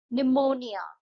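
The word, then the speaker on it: pneumonia: Debris निमोनिया इसमें P silent है।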